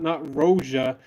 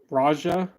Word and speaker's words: Roja: Not Roja. It's Raja. Is that how you say it? It's Ro. It's not Roja.